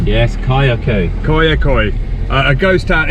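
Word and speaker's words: Kayaköy: I'll let him pronounce it because I get it wrong! Yes, Kayakoy a ghost town, it's about half an hour's drive away from Fethiye.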